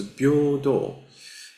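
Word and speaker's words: 平等: Uh first of all I just like to show you uh this uh this is uh pronounced as bordo.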